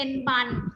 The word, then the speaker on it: บรร: นี่ อัน นี้ เป็น แบบ บร ร หาญ ออก เสียง เป็น บัน เหมือน กัน เรา จะ มี วิธี